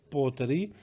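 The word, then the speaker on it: Port Ruighe: on this one, and they pronounce it Porterie.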